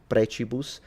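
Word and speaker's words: precibus: of course, Catholic doctrine and the pronunciation is clearly ecclesiastical because the C is pronounced as a ch. So preus prechibus and then mar instead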